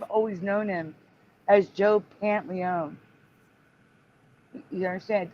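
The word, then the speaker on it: Pantoliano: but the thing is for me the O was either silent or said really fast because I've always known him as Joe pant Leone you understand it's like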